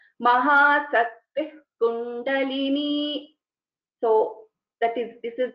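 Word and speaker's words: महाशक्तिः कुण्डलिनी: So when we are pronouncing this together, Mahasaktih Kundalini, so it is like half visarga. Mahasaktih Kundalini.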